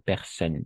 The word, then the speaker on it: personne: Incluso si está el plural, ese no se pronuncia, y tampoco personne, hasta ahí.